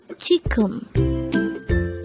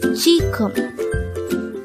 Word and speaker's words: 지금: Jigeum. Jigeum. This is pronounced as a two-syllable word. The first syllable is ji, the second syllable is gum. Pronounce it with me. Jigeum.